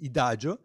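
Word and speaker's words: IDAGIO: started a collaboration with idajo that is a channel dedicated to musica and it's like Adagio but spelled with the final or the I at the beginning instead of an A so and you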